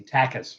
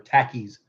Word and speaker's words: Takis: other people have questioned how you pronounce that it's t-a-k-i-s who's he Takis or tackies it's Takis and the reason it's Takis is because these are like little taquitos um I'm trying to